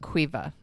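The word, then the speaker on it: Caoimhe: well, the name is pronounced Quiva, Okay.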